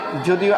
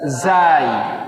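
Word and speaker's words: زاي: যদিও আমরা এটাকে যা বলি, সমস্যা নাই, তবে এর অরিজিনাল নাম হচ্ছে জাই।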